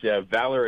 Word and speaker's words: Valar: It's Valar Atomics. It sounds like it's spelled V-A-L-O-R, but it's spelled V-A-L-A-R, just to keep everybody nice and confused.